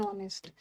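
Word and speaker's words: honest: मतलब अ नहीं होगा एच साइलेंट है एन ऑनेस्ट ईयर के साथ एन ईयर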